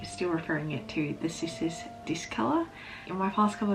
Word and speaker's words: Cissus: From what I've seen, pronunciation is actually Cissus, so with a K, but I think I've been calling it Cissus for a long time, so I will probably be still referring it to the Cissus Discolor.